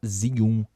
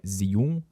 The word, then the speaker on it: Zhiyun: Zum em chinês e não é zun, não é zion, como alguns de vocês falam aí do inglês, né? Deixando o negócio com a pronúncia do inglês.